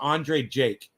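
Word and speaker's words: Andrei Jikh: right that's how he spells him but it's pronounced andre jake thoughts go out to the people of ukraine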